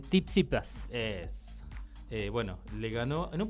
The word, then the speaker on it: Tsitsipas: ¿Cómo se pronuncia? Tsitsipas.